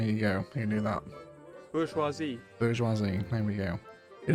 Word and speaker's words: bourgeoisie: Bourgeoisie.